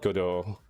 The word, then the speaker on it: Godot: Well, the engine is called Godot. Actually, how do you pronounce engine Godot?